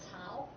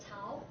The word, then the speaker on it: Cao: How to pronounce it correctly is Cao. It's basically like Italian, C-H-A-O, Cao. If you pronounce that way, it might more closer to the Chinese way. Okay, it's Cao.